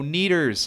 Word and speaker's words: Oneders: Jimmy's girlfriend offers the Wonders as a name, but Wonders is spelt Oneders. So there's no W, and there's that extra E, as if the number 1 spelled out. Lenny cracks it out right away and says, "Oh, neaters," and this becomes a running joke throughout the film.